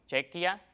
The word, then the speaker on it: Chequia: Fíjate en la terminación, Chequia, Kia, Eslovaquia, esa terminación, y por eso es que se homologan esos dos topónimos y es válido el uso de Eslovaquia y de Chequia.